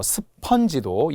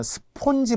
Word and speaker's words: 스펀지: 컨테이너라고 많이 하던데요 컨테이너 또 스펀지도 전에는 그 무슨 애니메이션 스폰지 밥이라는게 있었어요 스폰지밥 그것은 애니메이션일 뿐이지 실제 맞는게 아니라는 거예요 스폰지 어로 발음합니다 자 참고로 FN 무조건